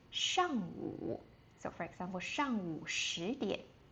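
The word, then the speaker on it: 上午: zǎoshang And, when the sun rises, um before noon, we would say shàngwǔ.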